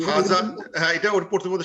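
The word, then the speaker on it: هذا: হাজা, কিন্তু উচ্চারণ করতেছে হাজা, এখানে একটা খারা জবতে পড়তেছে, কিন্তু আলিফটা নাই, আর লেখাও হয় না, কিন্তু পড়ার সময় অলওয়েজ আমি একটা আলিফ দিয়ে পড়ি, এরকম একটা খারা জবত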